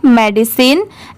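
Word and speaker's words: medicine: तो यहां पर इसे साइन नहीं प्रोनाउंस करेंगे। यहां पर मेडिसिन की साउंड है।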